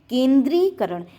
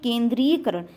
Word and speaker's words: केंद्रीकरण: केंद्रीकरण, केंद्रीकरण होता है, ना कि केंद्रीयकरण। केंद्रीकरण का जो उच्चारण होता है स्थान वह गलत होता है।